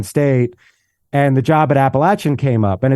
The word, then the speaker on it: Appalachian: postto at Penn State and the job at appalachin came up and it's pronounced appalachin by the way so there we go yeah